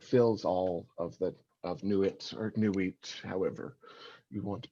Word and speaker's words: Nuit: all of Nuit or Nuit, however you want to pronounce that. Your mileage may vary there as well. I've recently been reading a lot of people that say Nuit like not, like N-A-U-G-H-T.